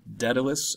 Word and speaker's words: Daedalus: going to be looking at the story of Daedalus is how you pronounce that and it looks like Daedalus but